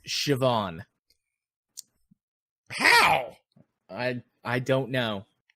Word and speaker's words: Siobhan: I was very wrong this is an Irish name and it's pronounced Siobhan Wow I I don't